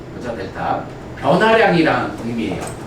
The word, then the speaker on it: 델타: 얘 얘 뭐라고 읽어요? 아, 델타. 그죠? 델타.